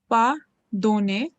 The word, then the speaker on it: pardonner: How do we pronounce it? Pardonner.